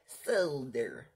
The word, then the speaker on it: solder: Solder. We do not pronounce the L in our solder.